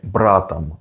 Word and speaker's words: братом: For masculine nouns, you just add om to the end, which is usually not pronounced very 100% like om, which is why you say братом, братом. Don't emphasize the om too much.